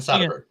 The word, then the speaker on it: Soderbergh: Steven Soderbergh.